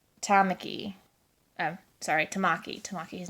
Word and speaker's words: Tamaki: I love how he can shift kind of like Tamaki. Tamaki. Tamaki. His name is Tamaki. I pronounce it Tamaki, but it's Tamaki.